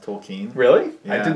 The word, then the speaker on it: Tolkien: yeah did you know that his name's actually pronounced toll Keane really I did not know that's a whole